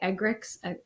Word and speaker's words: Eggerichs: That was by Eggerichs.